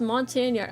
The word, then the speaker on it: Montagnard: The indigenous personnel were made up of several different ethnic groups, with the key ones being Montagnard, pronounced Montagnard. Oh, Montagnard Hillsmen.